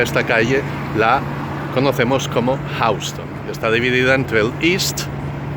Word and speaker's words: Houston: Nosotros los neoyorquinos no lo pronunciamos Houston.